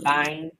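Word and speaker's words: bainne: hold on hold on b-a-i-n-n-e or buying it's the Gaelic word for milk foreign that's all I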